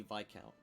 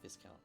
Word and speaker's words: viscount: oh it also be VI count not Viscount uh we should speak to the vi count about what information we can disseminate and it is vice by the way I was just correcting